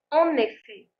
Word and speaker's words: en effet: L'expression numéro 3, en effet. Alors là, on ne prononce plus le T final.